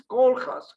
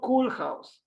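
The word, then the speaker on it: Koolhaas: ramas Kus not kolas I asked once steuart in a plane how to pronounce correctly his name and she she says something like this K house K house not cool house but you can play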